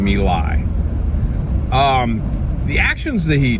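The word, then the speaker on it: My Lai: action near the vietnamese city of malay or malay it depends on how you or me lie excuse me i really blew it there on the pronunciation me lie um the actions that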